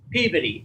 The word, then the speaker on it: Peabody: though it should be Peabody, and yeah, it's Peabody, and anybody that says Peabody would get looked at like they're a moron.